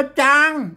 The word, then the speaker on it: ช้าง: เี่ ก็ งอ งู อัน นี้ อ่าน ว่า จาง นะ ครับ ไม่ ใช่ ชาง นะ อ่าน ว่า จาง จาง จาง จาง นะ